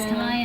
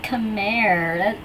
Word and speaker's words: Khmer: Freaking Khmer, that's how it's spelled, but people always pronounce it as Khmer, and it makes my heart hurt because that's not how you pronounce it. It's just written that way because that's how it's technically spelled in Khmer, but you see, when there's an R placed at the end, it's silent.